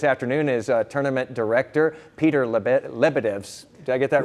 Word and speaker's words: Lebedevs: Joining us this afternoon is tournament director Peter Lebedevs.